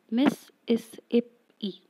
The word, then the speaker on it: Mississippi: You can pronounce the word, and you will clearly see that it has four syllables. Miss-is-ip-e.